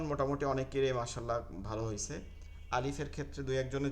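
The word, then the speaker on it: ألف: দেখেন লাম এবং ফায়ের মধ্যে কোনো ইয়া নাই, লাম এবং ফায়ের যদি উচ্চারণের মধ্যে দেখেন কোনো ইয়া নেই।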